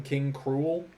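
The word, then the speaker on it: King K. Rool: one of them is King K Rule King K rules spelled the exact same way in Japanese but they just call him King cruel which I'm like I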